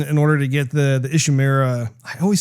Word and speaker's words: Ishimura: Like he was assigned to this mission in order to get the Ishimura. I always say that wrong. Am I saying it right? Ishimura? Ishimura.